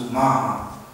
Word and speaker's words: Omaha: And my mother's side, I am Dene and Omaha, pronounced Umaha, from the eastern side of Nebraska.